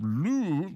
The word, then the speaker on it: Louvre: He said, the pronunciation of Louvre is Louvre. Oh, you pronounce the R? Yep. Louvre. No, I always heard it was a silent R.